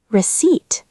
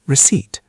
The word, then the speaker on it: receipt: Receipt. How do you spell that? The P is silent, right? Yes, good point, Alice. The P is silent. We say it like receipt.